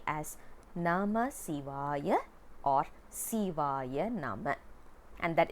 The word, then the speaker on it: Sivaya: One more thing that we need to understand is we don't pronounce it as Shivaya Nama or Nama Shivaya. Shiva is a name, it's not a mantra. Siva is a mantra because Si has a significant meaning, and that's one thing